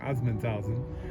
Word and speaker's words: Assmannshausen: Assmannshausen.